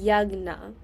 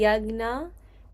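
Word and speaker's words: यज्ञ: So, it'd be yagna. Or like the the you don't pronounce the J. The J makes like a G sound. So, it'd be yagna shishtamrita.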